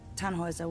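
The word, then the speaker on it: Tannhäuser: We'd pronounce it Tannhauser with an umlaut.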